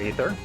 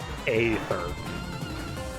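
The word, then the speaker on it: aether: weight okay weapons require ether to this day I'm inclined to pronounce it ather even though I know a e is spelled or pronounced as though it were just an E look for enemies to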